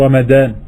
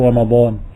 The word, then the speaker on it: رمضان: C'est pas grave s'ils disent ça pour discuter entre eux, mais lorsqu'ils lisent le Coran, ils ne devront pas dire Shahru Ramadan. D'accord? Ils devront prononcer le dad. Shahru Ramadan.